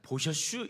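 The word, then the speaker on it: בֹּשֵׁשׁ: 보셔슈 이건데 재밌습니다. 평 저기 충청도분들이 보셔슈 하는 것처럼이 더디라고 하는 그 단어가 보셔슈라고 하는 뜻이 있는데 이게 어떤 뜻이냐면은 수치스러웠다는 겁니다.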